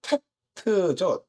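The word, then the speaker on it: טית: 테트는 어떤 모양을 형상화했는지 아세요? 상자, 바구니. 바구니 상자, 바구니처럼 모양을 가졌는데 어떻게 쓰냐면 이렇게 바구니처럼 둥그런 바구니였다라고 말씀을 드렸고 음가는 테트죠.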